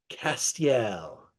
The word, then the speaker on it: Castiel: us about your fantastic wine let's try the pronunciation Castel yes very good okay um uh this is